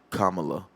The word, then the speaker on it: Kamala: It's Kamala. Kamala Harris? Kamala. Not Kamala. Kamala's the wrestler. It's like Kamala. It's like you said like a comma and then la.